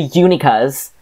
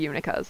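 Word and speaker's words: Unicos: themselves the Uni cos no uni cos oh she gives a pronunciation in here too oh sure right because the Uni cos that's because I mean it looks like it should be unica's we all go back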